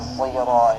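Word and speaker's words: صراط: Banyak kesalahan saat membaca sirat ini, orang memonyongkan bibir, membuat bibir monyong, bulat ya. Seperti membaca bu. Sebenarnya tidak. Bibir kita saat membaca sad itu biasa saja.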